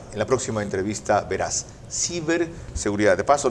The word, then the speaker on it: ciberseguridad: Ciberseguridad. De paso, no se dice cyberseguridad. Si es en español, es ciberseguridad.